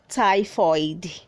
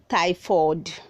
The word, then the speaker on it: typhoid: is pronounced as typhoid say typhoid don't say thai ford red 419 is pronounced